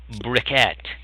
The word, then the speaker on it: briquette: No, briquette, like brick. Oh. B-R-I-C-K, E-T-T-E, briquette.